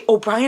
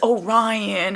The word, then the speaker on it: Orion: oh by the way obrien is not O'Brien it's Orion I just discovered this recently it is not O'Brien y'all um I'm sad to inform I've been saying his name wrong this whole time how many times did